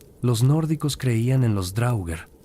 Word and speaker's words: draugr: Los nórdicos creían en los Drauger, pronunciado Drauger en plural, cadáveres reanimados que habitaban en los túmulos funerarios.